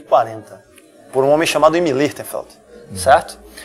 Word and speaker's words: Imi Lichtenfeld: quem foi o Imi, como é que se pronuncia ali? Imi Lichtenfeld.